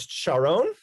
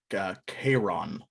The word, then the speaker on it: Charon: Hero, I would like you to do, I think it's Sharon or Sharon. Pretty sure. Charon. It's pronounced Chiron.